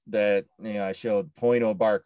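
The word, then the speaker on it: Pointe aux Barques: you know i showed point oh bark lighthouse is how it's pronounced and it's a great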